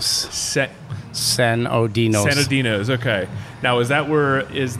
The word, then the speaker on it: Sinodinos: then how do you say your last name San oinos San oinos San oinos okay now is that where is